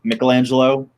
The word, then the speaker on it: Michelangelo: Alfred pronounces Michelangelo's name correctly as Michelangelo from like the actual Renaissance, and I'm like, oh, because he's actually like, you know, well trained, because he's a butler.